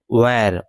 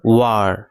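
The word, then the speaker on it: were: আর এটার উচ্চারণ কিন্তু আমরা অনেকে বলে থাকি ওয়্যার, ওয়্যার না, এটার উচ্চারণ হবে ওয়ার।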